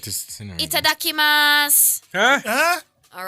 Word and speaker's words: Itadakimasu: So Itadakimasu. Pardon? It's pronounced as Itadakimasu.